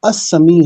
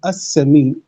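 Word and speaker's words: السميع: वाला है, अब वो अस्समी है, अलिफ लाम आएगा, अस्समी, लाम साइलेंट आ जाएगा इसमें, अस्समी।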